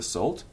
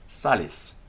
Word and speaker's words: sal: salt or of the salt that is Sal the accusative and the genitive of salt Salis notice it's got a long a Sal but Salis it's a short a when the nominative and